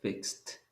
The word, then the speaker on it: fixed: Es regular, le pongo la ed, pero la pronunciación va a ser fixed.